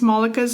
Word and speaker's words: Malaka: on how to pronounce Malaka's name, she does say it in her book, saying that it's not difficult, it's Monica with an L, so Malaka.